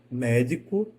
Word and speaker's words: médico: viu no exercício anterior médico e medico médico médico médico eu começo tá com ela alta e desço médico a escada vai descendo diferente de medico medico né eu tenho duas